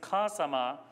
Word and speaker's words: お母様: A Japanese word for mother is kasama, and the primary accent falls on the first syllable.